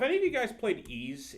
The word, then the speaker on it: Ys: of you guys played ease it's spelled Ys what it's it's it's it's pronounced ease but it's spelled y it's spelled Ys I never played it